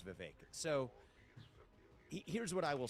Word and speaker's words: Vivek: David uh so and thank you for saying my name correctly it is viveker so here's what I